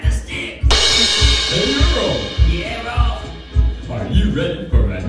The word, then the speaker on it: Rolf: The name is Rolf, Earl. Huh? Rolf. My name is pronounced Rolf the Wolf, not Ralph.